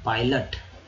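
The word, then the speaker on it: pilot: तो माजरा आप समझ रहे होंगे दोस्तों कि आई को यहाँ पर ई नहीं, आई का उच्चारण आई के रूप में किया गया है, तो हो गया है पाई। और ओ का जो है उच्चारण ओ के रूप में नहीं जबकि अ के रूप में किया गया, हो गया अ। तो एल में लग गया अ, तो लट, पायलट।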